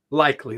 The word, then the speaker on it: Likely: do you say that last name isaiah likely likely that's right okay 6'4 241 pounds joe he